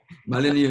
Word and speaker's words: Mullineux: Did I pronounce that right, Matt? No. No, okay. Pronounce it for me. No. Mullineux and Lou, yeah.